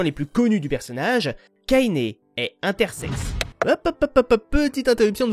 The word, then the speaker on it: Kainé: figurez-vous qu'en grec ancien le nom de Cé se prononce Kainé ou kainéus je trouvais la référence